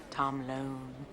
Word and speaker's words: Tom Lone: Tom Lone. Rhymes with cone, phone, bone.